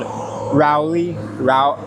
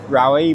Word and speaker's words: Rawai: I think the place is actually called the whole area is called Rowi. Rai, but it starts R A W AI. Every time I listen to it, it sounds like they don't pronounce the RA.